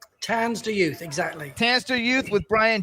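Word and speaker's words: Tanz Der Youth: He was in a band called, how do you pronounce it? Tansder Youth? Tansder Youth, exactly.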